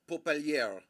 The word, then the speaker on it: Popelier: I choose to say his name, Popelier. That is how we will pronounce it. Jack Popelier. We're gonna go with the French. This how you would say it in French. It would be Jacques Popelier.